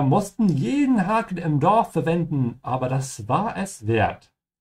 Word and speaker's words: verwenden: This is the standard way to say to use, verwenden. remember to pronounce the V like an F and the W like a V.